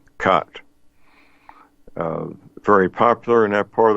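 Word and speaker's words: khat: chewing a narcotic plant called cut it's it's spelled k-h-a-t kilo Hotel Alpha Tango cut very popular in that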